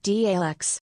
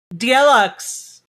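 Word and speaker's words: Daleks: It's pronounced DLX. Ah, DLX. DLX.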